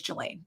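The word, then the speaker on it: Ghislaine: did anything wrong um her name is spelled very strangely but the the way that i've heard it said over and over again is julian so that's why i'm saying it that way um this is not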